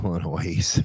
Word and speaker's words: Illinois: Just like Illinois. Illinois. No, you don't pronounce the S, tards.